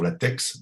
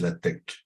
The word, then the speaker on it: LaTeX: que on travaille sur la tex, mais en fait, la véritable façon de le prononcer, c'est la tech. On ne prononce pas le X.